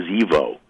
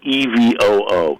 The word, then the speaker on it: EVOO: do they say evil I think she says Evo but it's spelled evoo e-v-o-o what would you say